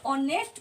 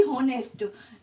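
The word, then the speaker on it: honest: नहीं हो रहा है, तो इसे हम ऑनेस्ट कहते हैं, ना कि होनेस्ट।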